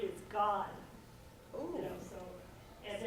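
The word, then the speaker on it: Gad: Hebrew it's always a ah so you say God and what does God mean a fortune right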